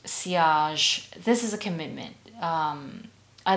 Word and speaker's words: sillage: pronounced sillage.